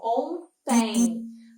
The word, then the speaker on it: ontem: Além desse sendo pronunciado com um tiozinho, né, esse em, eu também tenho uma sonoridade de uma semivogal, que seria o i nesse final. Então, ontem.